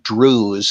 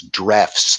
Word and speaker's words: Drews: And the answer to that, I think, that was supplied over 100 years ago by Arthur Drews. It looks like in English pronunciation, I think it's Drefts, though.